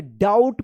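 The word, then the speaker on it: doubt: चलिए यहां पे देखिए डी ओ यू बी टी। इसको क्या पढ़ेंगे? डाउट पढ़ते हैं। डाउट। इसको डाउट बुट मत पढ़िएगा। यहां पे बी जो है ना क्या है? साइलेंट है।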